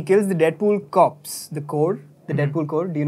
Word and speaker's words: Corps: is where he kills the Deadpool cops the core the Deadpool code do you know these guys